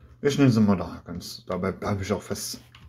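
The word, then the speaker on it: Mudokons: Das heißt eigentlich Modakens, aber na gut, Modokon, wie auch immer. So wird es im Deutschen gesprochen, aber eigentlich heißt es Modakens. Modakens.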